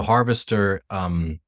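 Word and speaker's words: Harvestr: I just searched for it and It's like harvest, like you harvest like a crop, and TR, not TER, TR.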